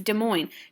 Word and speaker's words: Des Moines: So this is called Tinker versus Des Moines. Now, Des Moines is a city in Iowa. This is French, so some of these letters we won't pronounce, okay?